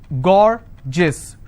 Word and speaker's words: gorgeous: For example, I have a word gorgeous. So gorgeous, 2 syllable, I will stress on gore.